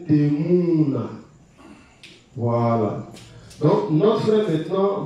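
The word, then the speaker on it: תמונה: Lorsqu'on vient ici, en hébreu, ça c'est un shuruk, donc c'est un ou. C'est un ou qui est, c'est-à-dire qui est prononcé. Bon, c'est un ou long. Voilà. Donc, ça va donner Temuna.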